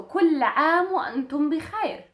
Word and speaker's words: كل عام وأنتم بخير: So كل عام وأنتم بخير. كل عام وأنتم بخير. This is more like a standard than it is a spoken. For spoken, you will just replace this M with an O.